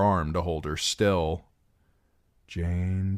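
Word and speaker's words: Jeyne: "Jane, Jane, it rhymes with pain."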